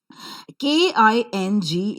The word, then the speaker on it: king: K-I-N-G is pronounced as king, with a slight h sound that you could see in the pronunciation of k sound.